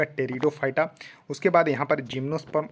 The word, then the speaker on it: टेरिडोफाइटा: देखिए Thallophyta bryophyta टेरिडोफाइटा यहां देखिए पीस साइलेंट है तो इसको पढ़िएगा टेरिडोफाइटा उसके बाद यहां पर